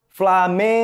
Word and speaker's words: Flamengo: pronunciando a palavra Flamengo como é que eles falam Flamengo vocês perceberam que o Man né fica mais forte mais intenso é justamente porque o Man é a sílaba tônica da palavra Flamengo pessoal naturalmente né nosso